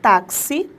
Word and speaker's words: táxi: sones presta bem atenção na palavra táxi nós tivemos então a presença de um x representando o som do KS é o dífono não